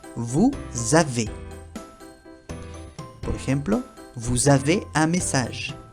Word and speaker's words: vous avez: La ez se pronuncia como si fuera un e acento agudo. E e ahí sonriendo. E vous avez.